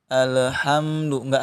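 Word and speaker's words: الحمد لله: terus alhamdulillahirobbilalamin dua-duanya pantul Nah maka cara membacanya ditahan Alhamdulillah ya ini sifatnya dipertengahan Jadi cukup ditahan tidak terlalu ditekan ya tidak ditekan tidak pula setelan ya tapi ditahan alhamdulillahnya Alhamdulillah baik kemudian mim sukun sama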